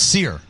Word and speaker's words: Scherer: Yeah, no, it's Scherer.